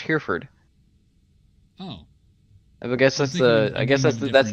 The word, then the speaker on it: Hereford: Because it's pronounced Hereford.